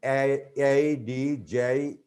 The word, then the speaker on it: adjective: And here, one thing we can tell our students that before J, D is not pronounced. For example, adjective, adjacent, adjourn, adjustment.